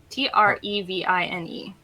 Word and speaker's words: Trevine: just happy with that is it treine or t r e v i n e it's trevine yeah Trine so one e